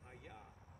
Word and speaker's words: HAYAH: just going to call him by his name aah and we're going to spell that h a y a because the verb